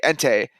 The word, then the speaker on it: Entei: Turns out like the Entei, that's how you say it.